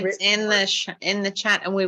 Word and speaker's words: Hritz: And Ritz is not spelled like Ritz crackers. There is a silent H in front of it. So Jessica, you see it here in the Zoom photo. It's Ritz.